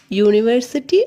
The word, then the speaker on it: university: The words university and European begin with the vowels U and E. But both these words are pronounced with U sound.